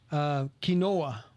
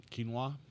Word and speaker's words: quinoa: Quinoa. Quinoa. Oh, see, I didn't even know how to say it. Quinoa.